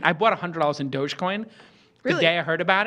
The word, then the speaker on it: Dogecoin: Um and it's pronounced douchecoin or dogcoin. I don't think it's pronounced douchecoin. It's not douch. It's not douchecoin. You should just say it that way though. But it is now for it is now. Dogecoin. Dogecoin. Dogecoin.